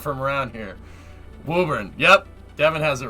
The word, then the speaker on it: Woburn: Woburn is how we say it. Whoa, burn! No, don't say whoa, burn. That's not right.